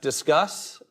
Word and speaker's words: Disqus: I get correct um you say it like let's discuss not not discus uh uh very common